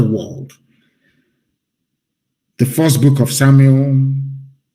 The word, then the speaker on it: Samuel: me tell you what samuel said shmuel of course correct pronunciation as your sword has